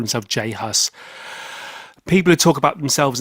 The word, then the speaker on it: J Hus: 12 of May 2017 Jay Haas not Jesus he you say you heard him talk to Tony pronounces his own name as Jay Haas within one of his